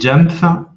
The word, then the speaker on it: Jamf: C'est Jamf, J-A-M-F, plus loin School.